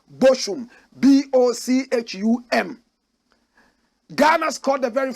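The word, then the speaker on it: Bochum: we call it the Boku disaster even though the correct pronunciation was motion Ghanaian said it's like broken disaster they played it in a city in Germany called boshum b-o-c-h-u-m Ghana scored the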